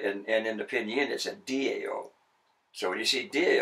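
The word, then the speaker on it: Tao: second about the transliteration system because we would pronounce that the towel of Tai Chi Chuan right okay and the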